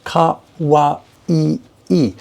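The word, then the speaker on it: かわいい: The word meaning cute is 4 syllables. Ka-wa-i-i.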